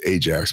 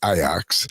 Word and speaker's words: Ajax: Ajax, we would pronounce Ajax, but it's Ajax.